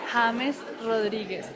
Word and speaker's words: James Rodríguez: James Rodríguez, like James, but in Spanish, James James Rodriguez.